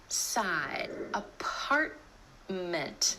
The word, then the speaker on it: apartment: Another time you're going to hear the held T is at the end of a syllable when the next syllable starts with a consonant sound.